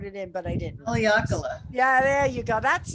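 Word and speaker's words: Haleakalā: Haleakala, I think. Haleakala, there you go. I'm not sure. I should have phonetically put it in, but I didn't. Haleakala.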